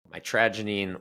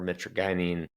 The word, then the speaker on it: mitragynine: 40 active alkyoids but the predominant one is called mitrogenine or metroinine depending on where you're from and how you say it. Um I like to say my tragine uh anyways that is